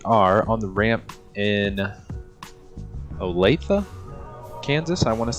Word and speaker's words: Olathe: We are on the ramp in Olathe, Kansas, I want to say is how you pronounce the city.